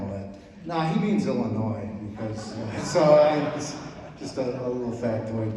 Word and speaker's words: Illinois: You know, because S is silent, and it's very sad and all that. No, he means Illinois, because, just a little factoid there.